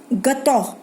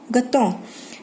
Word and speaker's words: gâteau: Gâteau. Gâteau. EAU is pronounced as O.